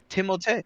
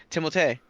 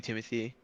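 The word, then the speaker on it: Timothée: I his name Timothy timot timot okay that's how it's pronounced how he's like yeah it's pronounced timot but people call me Timothy cuz he's like French uhhuh but like yeah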